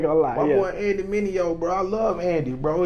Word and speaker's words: Mineo: How you pronounce his last name? Andy Mineo. Andy Mineo.